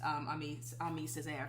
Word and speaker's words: Aimé Césaire: on Salvador Dali because he was a surrealist, Aimé Césaire, I believe that's how you pronounce his name.